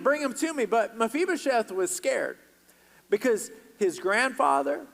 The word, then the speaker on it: Mephibosheth: the what's the young man's name and it's mephibosheth everybody say mephibosheth on three and you pronounce it all right one two three yeah